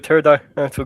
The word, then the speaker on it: pterodactyl: Why can't you hear a pterodactyl going into the bathroom? Because the P is silent.